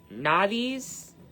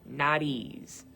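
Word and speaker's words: Nauthiz: This is now or I'm sorry, Nadis. You could pronounce it Nadis or Nadis.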